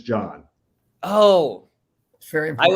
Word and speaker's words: John: you're pronouncing our names try to be very careful to not pronounce the silent h yes one is john and the others john oh that's very important